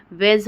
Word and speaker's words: wedge: ठीक है दोस्तों, अगर जी के पहले डी आ जाए तो क्या हो जाता है, डी साइलेंट हो जाता है।